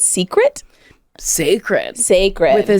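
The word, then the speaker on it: Cécred: I thought it was called Creed. It's sacred. Sacred. But spelled with a C.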